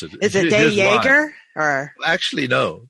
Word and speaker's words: Jager: The real pronunciation, which I don't use, is Jager. Okay, Jager. Dutch name, and it's got a guttural G. I was born in South Africa. Okay. So, I would have definitely butchered that one then. No. The pronunciation that we use is Jager. It's a very silent J. Jager. It's a French pronunciation, which fits in with